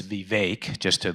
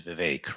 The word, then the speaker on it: Vivek: It's Vivek. Let's just make it clear. So the way he pronounces his name is Vivek, right?